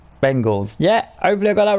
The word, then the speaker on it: Bengals: am I saying Bengal it's not Bingle it's Cincinnati Bengals yeah I believe a